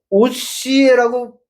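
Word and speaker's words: Ὡσηέ: 호시아라고 발음을 못 해요. 그래서 오시에라고 표기를 한 것입니다.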